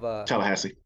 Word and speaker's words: Tallahassee: booth, and then is it how do you pronounce it? Tallahassee.